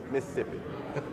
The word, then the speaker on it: Mississippi: I am from Mississippi, and if you're from the state of Mississippi, it's pronounced Mississippi.